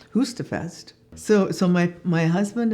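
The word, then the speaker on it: Høstfest: you know it was they they pronounced it husta Fest so so my my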